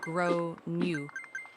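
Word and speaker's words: Gráinne: At this point, the alarm bells are ringing in my head because I've realized that the kid is called Grain, generally pronounced as Gro New, or thereabouts.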